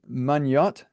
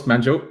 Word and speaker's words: Manjo: Is it Manyot? Is that how you say it? Pretty close, Manjo. Yeah.